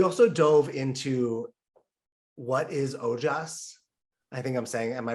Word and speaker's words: Ojas: We also dove into what is Ojas. I think am I pronouncing that right? You got it. Ojas.